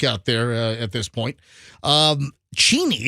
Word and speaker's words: Cheney: Cheney is the real pronunciation, but everybody, Roxanne, can you please stop distracting me?